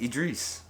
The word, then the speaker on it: Idris: all over again yeah it's idris with an i this time but it's pronounced id idris if it was idris it would be e-d-r-i-s i don't think that's